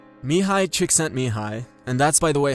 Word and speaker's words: Mihai Csikszentmihalyi: Mihai Csikszentmihalyi and that's by the way how you say